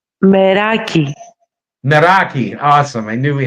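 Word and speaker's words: μεράκι: It's merike. Should we have joy in our work? I think is how it's pronounced. What about pride or honor? Called, I'm sorry to interrupt. It is called meraki.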